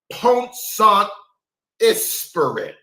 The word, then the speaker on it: Pont-Saint-Esprit: Ira Baldwin, had poisoned the entire village in the French town of Pont-Saint-Esprit. Allow me to pronounce that.